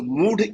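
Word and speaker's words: मूढ: is no enthu okay muda is like you are you reading this in English. I have read it in Sanskrit. So mood is actual pronunciation what we are talking about.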